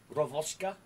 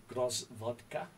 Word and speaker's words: Gvozdika: We're going to be taking a look at the 2S1 Gvozdika. I hope I pronounced that properly. A friend of mine from the Ukraine helped me with the pronunciation. Gvozdika. Gvozdika.